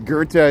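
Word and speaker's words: Goethe: I'm pronouncing it right it's not go it's Gerta it's it's the German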